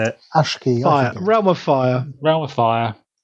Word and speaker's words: Aqshy: Aqshy.